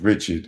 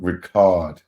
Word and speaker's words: Richard: bro hey she said it ain't pronounced Richard it's part Ricard that's how she said